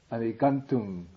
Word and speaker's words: adhigantuṃ: But a little mispronounced. Look at the book. Gantung.